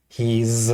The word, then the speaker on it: he's: okay you have I he's with a z sound she's with his sound